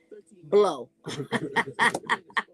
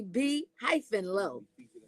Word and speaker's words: By Low: You know what it looks like when I say your name is DJ Blow, but it's really By Low, y'all.